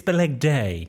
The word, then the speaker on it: Balegde: It's Balegde. It's a bit Hyacinth Bouquet, isn't it? Balegde. It's Balegde! I mean, there's no accent on the end of it, and really for the A sound, as in cafe, there should be Just do your next bit.